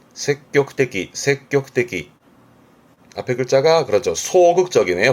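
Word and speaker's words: 積極的: 적극적, 발음은 색격떼기.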